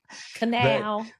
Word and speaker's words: Kanawha: Thank you for saying it correctly. Kanawha Kanawha. Kanawha. That's how you can tell when people don't know where you're really from cuz they don't know how to say it, so that's okay.